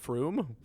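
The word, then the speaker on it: Frome: it's uh f r it's pronounced more like f-r-o-o-m so froome froome i mean that's how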